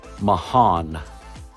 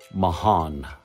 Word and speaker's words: Marans: name of the town in France is called Mahan m a r a n s Mahan why they put an H in there there